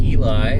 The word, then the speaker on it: Ely: Alright, well, I finally made it to the town of Ely, or I think that's how you pronounce it, Ely. It's spelled E-L-Y.